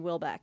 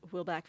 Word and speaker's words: Houellebecq: But when I saw this, I kind of wanted to go on I think you pronounce his name Houellebecq, like Michel Houellebecq, reading.